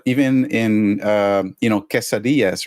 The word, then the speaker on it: quesadilla: cheese in the middle so people say quesadilla yeah and some Americans say quesadilla you know and so that's completely wrong yeah but uh you